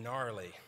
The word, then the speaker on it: gnarly: So were the words rad and gnarly, that's spelt with a G at the front.